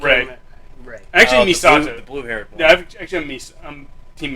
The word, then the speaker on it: Misato: Actually, The Misato. blue-haired one. Yeah, I'm Team Misato now. Mikasa? Misato.